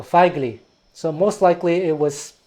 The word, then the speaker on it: Fijkeli: Feigli. F-I-J-K-E-L-I, because Feigli Prizor is a Dutch Sinto. So in Dutch language, I-J is pronounced I, so Feigli.